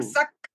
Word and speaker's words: Tokarczuk: Toksar Oh, Tokarczuk Tokarczuk, yeah.